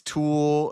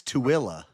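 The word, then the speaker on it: Tooele: So you think it's Tulle or Tulie? It's Tilla.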